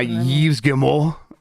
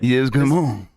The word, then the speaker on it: Yves Guillemot: And I learned the key to pronouncing things with a French accent is just mostly let your mouth melt halfway through the word.